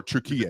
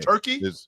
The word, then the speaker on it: Türkiye: How is it pronounced? So Türkiye. Turkey?